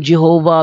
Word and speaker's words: Jehovah: kanila yang ano Bibliya while inclining to view the pronunciation yahwe as the more correct way you have retained the form Jehovah because of people's familiarity with it since the 14th century 14th century lang